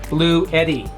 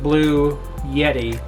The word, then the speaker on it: Bluetti: It's a portable power station, and the SP120, the 120 watt solar panel made by the company Bluetti. That's spelled B-L-U-E-T-T-I, not Blue Yeti, like the anime.